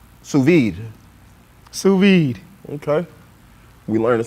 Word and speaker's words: sous vide: playing with y'all oh man okay so proper pronunciation is sous-vide sous vide sous vide okay we learned some new teaching